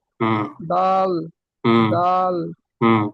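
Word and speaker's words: ذ: আমি জাল, বলছিলাম যে জাল। এই শব্দটা একটু খেয়াল করতে হবে। ওই যে দুই সামনের যে দুই পাশের দাঁত আছে, ওই দুই পাশের দাঁতের মাঝখান দিয়ে একটু জিহ্বাটা বের হবে। দাল, এইভাবে উচ্চারণ করতে হবে।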